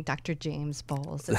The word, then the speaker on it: Bowles: like saying Dr James balls it sounds so good I appreciate that because I don't really like my last name too much Little People mispronounce it they say bowels or something like that too so in England